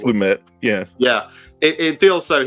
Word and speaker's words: Lumet: I always say Lumet because I always think it's LeMay, but I think it's not pronounced that way. I think it's Lumet.